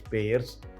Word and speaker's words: Payr's: P-A-Y-R apostrophe S, but pronunciation is Payr's crushing clamp. Spelling is different, and it is used to in gastrectomy.